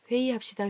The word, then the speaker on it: 회의: 이렇게 회의 이렇게 쓰지만 회의합시다. 회의합시다. 이렇게 소리가 들려요.